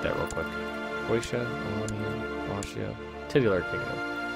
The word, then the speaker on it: Wallachia: Serbia, Croatia, I think it was Wallachia. I know it's pronounced with a V.